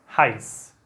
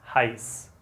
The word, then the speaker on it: heiß: Y eso se pronuncia como una S, ¿vale? Entonces se dice, es ist heiß.